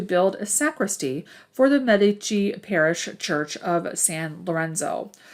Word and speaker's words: Medici: they were known as the medici family m-e-d-i-c-i every now and then you'll hear it pronounced medici okay giovanni de medici